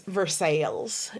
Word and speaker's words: Versailles: Definitely not pronounced that way. It's Versailles.